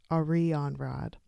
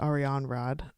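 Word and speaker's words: Arianrhod: celtic goddess ariane rod i was able to look up how to pronounce this a rheon rad um and just watch i'm saying it like a really over enunciated it's probably ariane rod and i'm just like making every syllable count but anyway this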